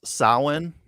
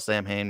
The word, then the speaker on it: Samhain: it was so good oh yeah valerie it's pronounced samhain but i always call it samhain because that's what it looks like yeah all